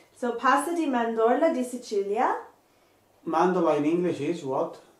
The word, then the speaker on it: Sicilia: in and it's not cecilia in italian in italian it's pronounced sicilia so pasady mandola de sicilia mandala in english is